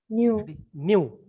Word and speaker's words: mu: uh that uh v kinematic viscosity what is pronunciation new okay that is not the v that is